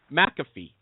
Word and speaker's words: McAfee: Is it McAfee? You got it. That's it. McAfee.